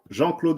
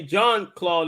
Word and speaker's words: Jean-Claude: Pronounce it for the French style of the accent. How would y'all say it in French? Jean-Claude Mboli. All right. So he say John Claude Mboli.